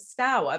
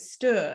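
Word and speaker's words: Stour: in the book and I pronounce it stower but if you're from um Suffolk you pronounce it Stuart and we're right on the borders so like half of us say style and half of say Stuart so I was like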